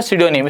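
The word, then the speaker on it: pseudonym: दे रखा है आपका, सुडोनियम। क्या दे रखा है आपका यहाँ पर, सिडोनियम। इसको देखते हैं, इसमें आपका पी जो है वो यहाँ पर साइलेंट रहता है, सिडोनियम।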